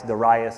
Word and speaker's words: Darius: Darius is the proper pronunciation.